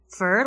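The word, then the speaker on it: Führer: help from the internet fur like fern that's how you pronounce it for but it means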